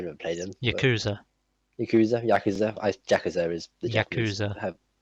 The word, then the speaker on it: Yakuza: Have you ever played any of the Yakuza games? I never played them. Yakuza. Yakuza. Yakuza. I Jakazer is the Yakuza. Yakuza. That's how they say it in Japan.